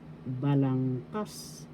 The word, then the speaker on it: balangkas: And today we're going to study balangkas structure in English. Balangkas structure. First syllable ba, second syllable lang, third syllable kas.